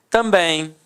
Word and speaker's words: também: Também. Repare que a sílaba tônica é a última e é terminada em em.